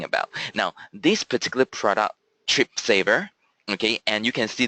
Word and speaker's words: Tripsavr: So Tripsavr is spelled as T-R-I-P-S-A-V-R because this is what this product is for. Saving for you, okay. Tripsavr, as the word saver, is saving for you.